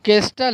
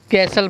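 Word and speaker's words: castle: केस्टल, यहाँ केस्टल है लेकिन यहाँ पर जो टी साइलेंट है तो हम क्या पढ़ेंगे, उसको कैसल पढ़ेंगे।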